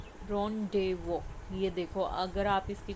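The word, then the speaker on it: rendezvous: इसकी सही प्रोनंसिएशन है। रन डे वो जेड जो है और यूएस इसमें साइलेंट है।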